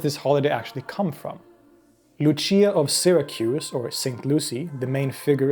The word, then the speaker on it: Lucia: performance of what is known as luciaa or with the proper pronunciation Luchia usually a woman with